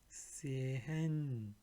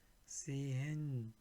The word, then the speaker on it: sehen: Here you will see H steht ein H nach einem Vokal, wird dieser Vokal lang ausgesprochen. Meaning, whenever there is a H like this, it will be, you have to pronounce it a little bit longer, like stehen, meaning still, steel. Sehen, meaning see, to watch. Sehen. Gehen, meaning walk, go, walk. Gehen. So again, stehen, sehen, gehen. So you have to pronounce H for a longer time.